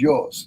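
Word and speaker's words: υἱός: And then son is Ios, so U-I-O-S.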